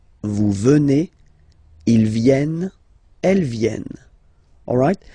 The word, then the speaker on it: venez: And then vous venez. Remember a Z combined like that? Et. Venez.